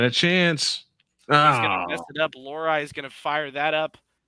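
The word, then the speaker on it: Lohrei: him la this that's actually the hardest name is uh to pronounce is l h REI you won't know how to say that at first until they finally say which is lorai lorai that is number six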